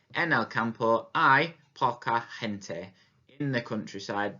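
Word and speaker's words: hay: before christmas of saying hey for it but it's actually pronounced just like a capital i as in i am going to the park and so remember that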